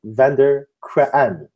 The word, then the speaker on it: van der Kraan: How do you say that name actually? Like van der Kraan. Yeah, almost good. It's almost Oh, good. I'm the If I say worst. it in Dutch, it's van der Kraan.